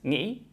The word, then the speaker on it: nghĩ: It starts with a voiced velar nasal, which is where your tongue goes up here to your velum and makes an ng sound, like in the word sing. But here we have it at the beginning of the syllable, which doesn't exist in English.